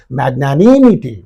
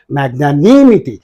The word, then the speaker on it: magnanimity: you have to say magnanimity what should you say magnanimity so here you have to stress this syllable so this is therefore